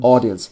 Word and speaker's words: audience: Audience. Когда audience. Ты видишь две буквы A и U вместе, они читаются как O.